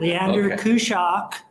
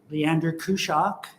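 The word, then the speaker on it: Leander Kuszak: to have you give us your name and spell it first though okay i got rules around here we'll do that leander kushak say it again leander kushak n d e r k u s z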